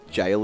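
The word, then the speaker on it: gaol: how jail is that it's spelled like gale gale yeah but it's not anywhere else yeah yeah that's like an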